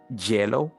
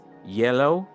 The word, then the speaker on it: yellow: kind of funny here this word we always see students pronouncing Jello all right so here is yellow let's have some